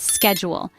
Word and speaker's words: schedule: let's consider the word schedule in American English it's pronounced with a es sound at the beginning like school but in British English it's pronounced with a she sound like shell another fascinating example is